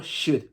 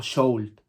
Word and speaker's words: should: Yo no pronuncio ni la O ni la L. Digo should, no digo sold. Ni sold, que sería vender. Yo digo should, ¿vale?